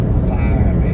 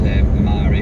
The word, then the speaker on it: Mhairi: My whole family have normal Scottish names, but mine is Vary, spelled correctly Mhairi, but pronounced Vary. One day I recorded how many variations I got and it was 26. I thought it was Mary, I must admit.